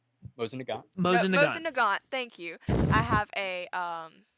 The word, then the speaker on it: Mosin Nagant: Mosin Nagant, thank you.